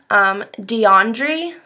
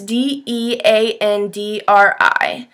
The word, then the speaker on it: Deandri: And I'm also loving lately DeAndre. I believe that's how you say it. It's DeAndri.